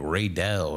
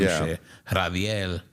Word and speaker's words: Radel: didn't hear the name the guy how he pronounced my name. Some people be saying like Ray Dell or some Radel.